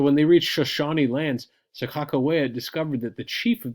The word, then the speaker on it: Sakakawea: We used to call her, when I was growing up, we would say Sacagawea, but Sakakawea seems to be the way people pronounce it now.